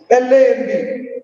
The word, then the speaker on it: lamb: So, the lamb is being, the B is silent. B is silent, therefore we pronounce as a lamb. Lamb. You don't say lamb, it is a lamb.